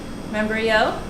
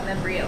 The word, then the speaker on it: membrillo: black spread below that is membrio and then we have i kept saying it wrong quince paste don't know what membrillo is and then we have